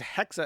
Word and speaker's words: Hexa: Um, however, her name is Hexa, as in like hexagon, and she's on hiatus.